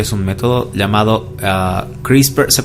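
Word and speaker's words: CRISPR: nos tanto tecnología es un método llamado a crispar se pronuncia crisis por christopher kas nine ya se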